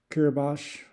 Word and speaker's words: Kiribati: Guam, Honduras, French Polynesia, Kiribati, or Kiribati, I believe it's pronounced, Jamaica, U.S.